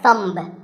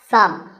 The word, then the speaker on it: thumb: this this is my thumb it's not my thumb it's pronounced thumb and uh what about this this is a